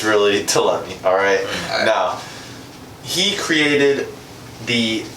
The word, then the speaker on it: Ptolemy: Some would pronounce it Ptolemy, but it's really Ptolemy, alright?